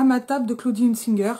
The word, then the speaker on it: Hunzinger: ma table de Claudie Unsinger. Je vais avoir tendance à le prononcer à l'allemande mais je crois qu'elle est alsacienne.